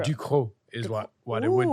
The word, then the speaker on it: Ducrot: And be like, that's actually how you pronounce it. Exactly. And people will be like, no, it's du Crow. And you'd be like, it's actually Duco.